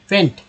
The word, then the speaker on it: faint: तो अब देखिए फेंट क्या, FNT फेंट है, फेंट, फेंट कैसे, फेंट देखिए FAINT फेंट बोलते हैं। कैसे उच्चारण इसका होगा, तो F को बोलते हैं फ, AI को बोलते हैं ए, N से होता है